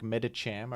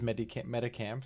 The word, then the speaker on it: Medicham: I've changed my pronunciation on a lot of them, like Medicham. Okay, sure. That's okay. I read it as Medicam for no particular reason.